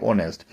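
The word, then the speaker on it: honest: Dash ऑनेस्ट मैन is respected everywhere, यानी एन ऑनेस्ट मैन, एच is silent तो ओ की sound आ रही, ऑनेस्ट.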